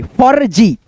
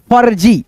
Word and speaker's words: फर्जी: जैसे देखो यहाँ पे फ, फिर रेफ की मात्रा का उच्चारण पहले ज से पहले, फ के बाद ज से पहले, फर्जी, फर्जी ऐसे करके।